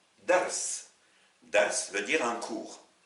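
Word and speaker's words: درس: RA et le sin si vous prononcez ce ce mot comme un nom vous vous contentez de mettre une fatha un a à la première lettre et rien aux deux autres voici donc dars dars veut dire un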